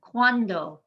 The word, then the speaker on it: cuando: the second to last the u and the a in cuando work together cuando one one syllable there in the first part one syllable at the end we emphasize the second to last cuando and ma rio the